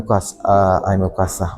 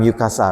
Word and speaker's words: Ukasa: I'm Ukasa. Okay, I'm Ukasa. Not I'm Yukasa, right?